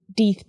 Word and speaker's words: Death: any way you like either as most people do deeth to rhyme with teeth or death to rhyme with breath this choice of second